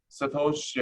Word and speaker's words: satoshi: popular and equally correct if the plural form we're to follow the rules of Japanese grammar it may be pronounced as Satoshi ax or simply Satoshi Satoshi is often abbreviated